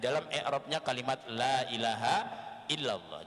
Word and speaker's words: illallah: i'rabnya kalimat la ilaha illallah. Jangan sampai di dalam illanya itu justru kita membacanya ilallah. Karena mungkin dari saking mudahnya kita membaca sehingga kita tak terpikir membaca illah menjadi ilah yang akhirnya berubah arti.